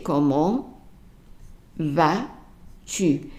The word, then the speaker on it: comment: Now pronunciation-wise, comment here is not followed by a word that starts with a vowel, which means that the T is going to be silent. So you say comment vas-tu.